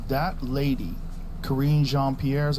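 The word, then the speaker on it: Karine Jean-Pierre: never never never it's like that lady Karine jeanpierre is how you say her name yeah the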